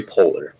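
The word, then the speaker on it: Poehler: Could you please state your full name and spell it for the jury? Poler.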